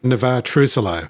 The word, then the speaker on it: Navexa: Is that the correct pronunciation? I hope so, yeah. Yeah, that is. Navexa.